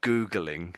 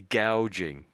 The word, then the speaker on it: gouging: You're not You're not You're not too far away is actually gouging.